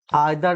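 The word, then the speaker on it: either: Each, every, आइदर, नाइदर या ईदर नीदर भी इसका उच्चारण होता है।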